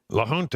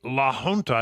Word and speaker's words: La Junta: La Junta is the way I think it is. Yeah. Right. It's a J, which is in the Spanish pronunciation is an H.